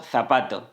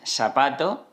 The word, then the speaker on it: zapato: There are people, for example in Andalusia, in the south of Spain, who could say instead of "zapato", they would say /sapato/. And in this case they would be committing seseo, ok?